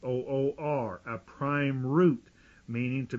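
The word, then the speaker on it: עוּר: another word that strongs refers us to 5783 uwr or that's way it's pronounced o o r a prime root meaning to be be be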